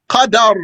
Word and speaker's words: Qadar: Then there's a third word, which is Qadar, with a fatha on the dal. So don't mix Qadr and Qadar.